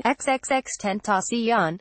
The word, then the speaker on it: XXXTentacion: to the Sheriff's Office ex extant accion who had dreadlocks and facial tattoos and who pronounced his name xxx 10th osteon was a platinum-selling rising